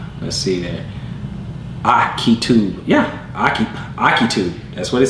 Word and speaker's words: Ahitub: Yeah, Akitub. That's what it says. That's the pronunciation. Akitub. Okay, Akitub. So we're gonna go with Akitub. That's what the pronunciation key says.